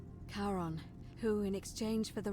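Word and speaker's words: Charon: the coin you heard wasn't Karen it was c h a r as in Caron the ferryman of the Dead karon who in exchange for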